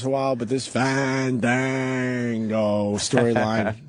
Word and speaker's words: Fandango: You gotta say it right. You gotta make sure you let the A's breathe. Fandango.